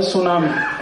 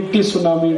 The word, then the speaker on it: tsunami: अंग्रेजी में एक शब्द है सुनामी, कैसे लिखते हैं? TSUNAMI। बोलते क्यों नहीं? टी सुनामी, टी सुनामी, टी सुनामी। कहते जी टी साइलेंट है, तो लगाया क्यों?